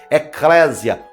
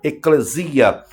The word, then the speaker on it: Eclésia: Eclésia, ou como muitos preferem pronunciar, eclesia, tirados para fora.